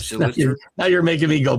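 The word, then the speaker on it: Schlittler: I don't know how to pronounce his name because it sounds like just say Schiller. Schiller. That guy. No, that guy. It's Schlitter.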